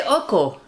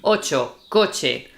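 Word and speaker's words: ocho: Some people say oko. Yeah, I've heard that. So if you say oko, we we think you saying oho probably. Um, so it's oo ch for us is always ch sound oce.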